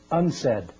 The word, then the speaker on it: UNCED: Nations committee for environment and development it is pronounced unsaid and perhaps indicating the secret agenda of this